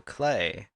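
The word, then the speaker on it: Klei: together was self-published by Studio clay which rhymes with play clay also developed invisible ink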